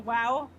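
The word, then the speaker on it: WAU: miss the ai is called the wow like the owen wilson wow yeah it's spelled it's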